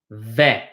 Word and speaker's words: vais: Anytime you see an A and an I next to each other, except for an AIN, it is pronounced eh.